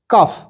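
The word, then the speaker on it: calf: কাফ এলের উচ্চারণ হয় না, সাইলেন্ট থাকে।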